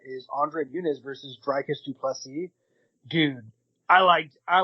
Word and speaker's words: du Plessis: He was like, "For everyone who is wondering, it is pronounced du Plessis."